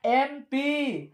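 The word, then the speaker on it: MP: लेकिन अगर हम एम का उच्चारण करें तो आता है ए, एम क्या आता है, ए आता है।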